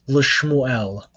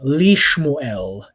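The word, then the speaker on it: לִשְׁמוּאֵל: after it for example you wouldn't say this la shmoo el try saying it out loud le shmuel doesn't it sound nasty when you pronounce that way so in hebrew what happens is that the shava on the lament becomes herik so it becomes lishmuel and then if the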